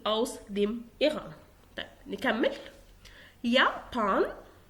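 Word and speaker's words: Japan: يابان، يابان، اخد بالي ان اليوت بتتقرا يابان يعني اليابان.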